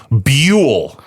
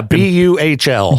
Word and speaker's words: Buhl: Coeur d'Alene and then there's Buhl. Buhl, yeah. B U H L. But it's B Y O O hyphen U L L. That's how you pronounce it.